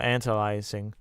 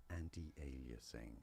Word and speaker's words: anti-aliasing: didn't turn this off uh antalyzing.